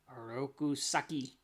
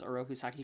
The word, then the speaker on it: Oroku Saki: do love that the every time that splinter says oroku saki goes rousaki like he always rolls the r on a rokus saki so that it's probably the proper way to say it way to say it